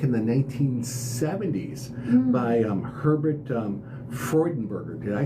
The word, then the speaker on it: Freudenberger: If the pronunciation is true to German, it would be it'd probably be Herbert, and it'd be Freudenberger.